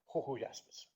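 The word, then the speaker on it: Jujuyaspis: do you pronounce it I'm told it's something like hoho aspis named after the problem the province of Hawaii in in Argentina last exam a puzzle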